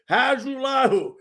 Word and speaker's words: Hajrulahu: His name is Lirim Hajrulahu. That's right, Hajrulahu.